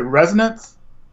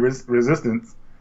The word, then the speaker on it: Resonance: a shining resistant well is it resonance things resonance I'm sorry I've been saying it wrong I've been saying resistance but I got the